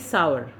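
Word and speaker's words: sour: और उसी तरह सावर, सावर यानी खट्टा, सावर, आवर, सावर, इसको सोर पढ़ते हैं वो गलत है, इट इज़ सावर, सावर यानी खट्टा।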